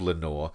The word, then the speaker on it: Lenore: convinced didn't exist, and was only called Lenore because it rhymes with nevermore and Picard.